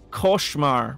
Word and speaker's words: Koshmar: Koshmar rhymes with scar. Koshmar. So scar, Koshmar. Okay, that's how you say it.